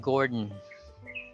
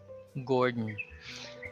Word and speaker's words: Gordon: jordan river river ben gordon so you don't pronounce the o there or the a you just pronounce the d then pronounce the end directly jordan gordon certainly burdensome we're live